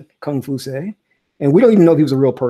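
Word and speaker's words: Kong Fuzi: Mandarin okay and cut comp you say comp you say or what we mispronounced as Confucius kung fu say and we don't even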